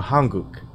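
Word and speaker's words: 한국: See, in Korean, a Korean is called a Hanguk.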